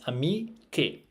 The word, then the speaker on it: amiche: Now, there are spelling rules when it comes to Italian, and we know that C and E is read ce in Italian. So we need to add the H to maintain the pronunciation che, right?